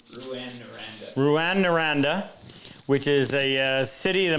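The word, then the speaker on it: Rouyn-Noranda: jared was drafted by i can never pronounce it new and right say it again ruan naranda which is a city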